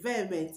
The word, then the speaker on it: vehement: Vehicle, the H in vehicle is not pronounced. So you don't say vehicle, you say vehicle, not vehicle. Vehicle. The H in the word vehement is not pronounced.